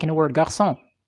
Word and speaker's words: garçon: In French, for example, the C with a little hook underneath, whatever it's called, I don't remember, is used to denounce the sound S. So, like in the word garçon, it's spelled G-A-R-C-D, as